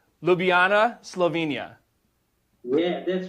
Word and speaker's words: Ljubljana: Ljubljana, Slovenia.